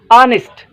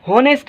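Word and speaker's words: honest: मतलब आए अरबा ठीक बे नंबर वर्ड आए ऑनेस्ट ठीक ऑनेस्ट सो हते एच खामोश आए ही होनेस्ट ना पढ़बो ठीक ऑनेस्ट पढ़बो ऑनेस्ट जो मतलब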